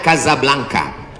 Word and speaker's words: Casablanca: Hasan 2 di kota Kazablanca. Ibu kota Maroko. Tempat saya kuliah. Nama negaranya Maroko. Ibu kotanya tulisannya Casablanca. Cara bacanya Kazablanka.